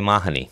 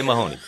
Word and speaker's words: Mahoney: My math teacher, an old friend of yours, Rosalie Mahoney. Oh, my gosh. You got to say it right and work on your Gaelic. Don't say Mahoney. Say it again for us. Mahoney.